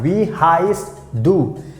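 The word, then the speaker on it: wie heißt du: so you can ask we highest do we highest do we highest do that's how you have to pronounce both has the meaning what's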